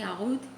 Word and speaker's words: oud: since my last video, when I say oud, it's oud. It's just the proper pronunciation.